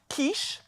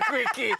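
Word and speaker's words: quiche: So now pronunciation, it's kiche. Kiche. Okay. What were people saying? Uh, true story in Wwoods. She's looking for the spinach and feta quickie. It's not a quickie. It's a kiche.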